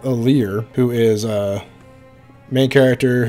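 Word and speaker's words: Alear: we have a lear i always want to call him allery and for some reason i want to say it wrong but we have aalir who is a main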